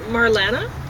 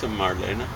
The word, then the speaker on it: Marlene: yeah or I guess do you pronounce it Marlana that's probably better well you say Marlene Dietrich but German problem Marlena okay well I'm gonna